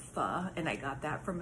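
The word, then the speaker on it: phở: But I can tell you it's probably because I had pho last night, or pho as some people pronounce it, or pho as some people pronounce it, but it's actually pronounced pho, and I got that from a Vietnamese friend of mine.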